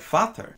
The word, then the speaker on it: vader: Dutch word for father, but it's not pronounced anything like that. It's pronounced more like Vater, and I can't get